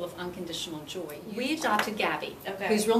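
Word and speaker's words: Gabi: It's called The Gabby Life. Okay. Gabby is spelled G-A-B-I, Mm-hmm.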